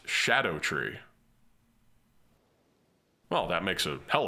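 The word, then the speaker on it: Scadutree: Scadu-tree? Japan...we don't put U's after D's. We're comfortable just ending on D. Oh, it's actually based on old English and it's pronounced 'shadow tree.'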